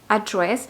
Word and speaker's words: address: Y pues, utilizando esta palabra como un verbo, sería address con el énfasis en la segunda sílaba.